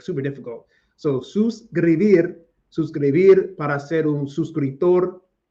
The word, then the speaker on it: suscribir: I like saying this word so much because I work very hard to pronounce it. Suscribir, suscríbete, suscriben a mi canal, subscribe to my channel.